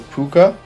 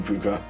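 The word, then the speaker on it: púca: So, this one is I'm pretty sure it's pronounced the puka.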